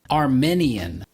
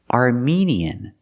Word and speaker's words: Armenian: cannot say Armenian Armenian Armenian native speakers do not pronounce the word Armenian the word is pronounced Armenian we use the long e like green beans for the second syllable are me Armenian Armenian Brandy I'm